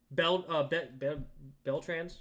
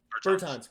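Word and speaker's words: Bertāns: Beltrans? Is that how you say his name? Crap. I'm a Wizards fan. Bertans.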